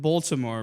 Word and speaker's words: Baltimore: Life in Baltimore, bro. Baltimore. How do you say it? Is it I say Baltimore. I say Baltimore. Oh. BA, like ball. Like Baltimore. Ball. Like ball.